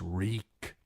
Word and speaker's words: Reek: My name is Reek. It rhymes with cheek.